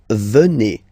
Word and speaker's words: venez: Then classic ending for vous, Z here, and then you pronounce it et, vous venez. Vous venez.